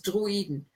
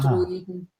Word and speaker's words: Droiden: Yeah, this is one of the lesser words, I guess, where the two letters are pronounced separately. So it's Droiden. Das sind nicht die Droiden, die ihr sucht. Droiden. Okay, so it's 3 syllables.